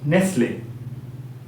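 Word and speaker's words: Nestlé: খুব পছন্দ করো সেখানে নেসলে তাইতো নেসলে কোম্পানির খাবার তোমরা অনেকেই খাও সেই নেসলে মান দেখো এনই এসটি এলই এনই এসটি এখানে কিন্তু তিটা সাইলেন্ট লেটার ঠিক আছে এরকম অনেক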